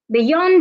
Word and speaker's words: beyond: stress the second syllable another example is beyond beyond is a preposition you need to stress the second syllable another example is the